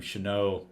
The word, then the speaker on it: Chenault: case and I so I pronounced my my last name should know and I said hi